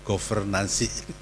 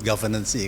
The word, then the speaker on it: governansi: Memang pronunciation-nya jadi agak susah Pak ya, governansi. Kalau bahasa Indonesia nggak mungkin kita menyebut governancy kan.